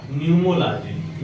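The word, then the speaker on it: pneumology: जो होता है उसका न्यूमोलॉजी या पी से है लेकिन पी यहां पे साइलेंट है ये न्यूमोलॉजी होगा और नर जनन अंग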